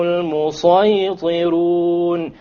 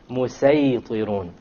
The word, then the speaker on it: الْمُصَيْطِرُونَ: So we pronounce this as أَمْ عِنْدَهُمْ خَزَائِنُ رَبِّكَ أَمْ هُمُ الْمُصَيْطِرُونَ أَمْ هُمُ الْمُصَيْطِرُونَ. And we're allowed to, but it is not preferred to say مُسَيْطِرُونَ.